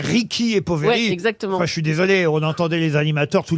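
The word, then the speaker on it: Ricchi e Poveri: de hasard un peu Julie me dit qu'il faut dire Ricky et poveri on entendait les animateurs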